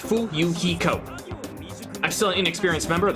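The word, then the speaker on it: Fuyuhiko: name is my first name is pronounced fool Yukiko I'm still inexperienced member of the family's business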